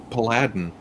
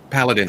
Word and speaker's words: paladin: I didn't know how to pronounce Paladin. Paladin.